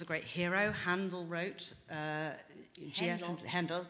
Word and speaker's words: Handel: Handel wrote, Handel, pronounced correctly, yes.